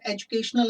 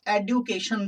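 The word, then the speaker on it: education: Pinky is dash employee in आवर एजुकेशनल institution. बेटे कुछ लोग इसको एडुकेशन बोल देते हैं, ये एडुकेशन नहीं होता, एजुकेशन होता है।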